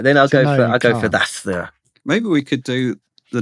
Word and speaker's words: Xasthur: Because a metal guy that I like called Zasthur. And can I get away with this? it's spelled Xasthur. Zasthur.